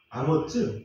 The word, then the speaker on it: 아모즈: 근데 영어도 그렇고 히브리어도 그렇고 스펠링이 끝에 가서 좀 다릅니다. 예를 들면 이사야 선지자의 아버지 이름 아모스는 영어로는 아모즈 이렇게 되어 있고요. 그 다음에 히브리어도 아모즈 그렇게 발음을 해야 됩니다.